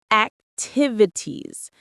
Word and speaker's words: activities: The stress is on the second syllable. Tiv. Say it with me. Activities. It's like active but with it tease at the end.